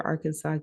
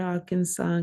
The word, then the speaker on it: Arkansas: So, all the way to Arkansas, Kansas, I laugh because Arkansas and Kansas rhyme because Arkansas is our Kansas, but the way that we pronounce it, we don't perceive it as that.